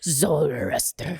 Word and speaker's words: Zoroaster: Zoroaster? I think you have to say it. Yeah. Is my understanding of how it's pronounced. Do it one more time. Zoroaster.